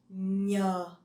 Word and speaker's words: nhờ: The NH in Vietnamese, you pronounce nhờ, nhờ. So it's not like the N in English, okay?